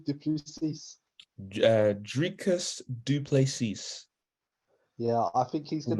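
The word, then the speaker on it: Dricus du Plessis: Dricus Duplessis.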